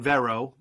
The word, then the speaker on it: Vero: Over the course of a week, Zack Snyder on Vero, which is pronounced like Mera from Aquaman, was dropping these pictures from his version, from Zack Snyder's Justice League, one a day.